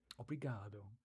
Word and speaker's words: obrigado: Obrigado. Interesting. Obrigado. Say obrigado. You actually have to pronounce the letter O. Okay. It's a lazy O at the end of obrigado.